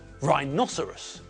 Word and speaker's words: rhinoceros: Well, there it's a 4-syllable word, but the apostrophe shows us that the stress comes on the second syllable. Rhinoceros, not rhinoceros, not rhinoceros, and not rhinoceros.